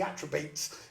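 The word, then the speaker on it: Atrebates: number 10 is the atribati's which are the naughty drive basically the ones that messed it all up the attributes is how it's pronounced but um there's a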